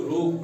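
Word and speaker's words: rogue: इसको जैसे आर ओ जी यू ई इसको रोग पढ़ते हैं। क्या पढ़ते हैं? रोग पड़ते हैं।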